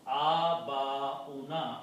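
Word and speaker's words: آباؤنا: Okay, and this should be pronounced Abauna, Abaun, and when you put in na, means our fathers.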